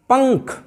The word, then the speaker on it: पंख: तो यहाँ पर पंख, यहाँ पर अनुस्वार की ध्वनि, ये ङ की ध्वनि आ रही है, पंख।